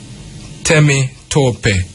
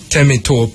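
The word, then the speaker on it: Temitope: T Au MH yeah then you have Tami Tope tamy Tope m which is a female name West African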